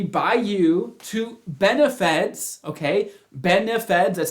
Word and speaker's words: BENEFEDS: Benefeds, that's how you say it, right?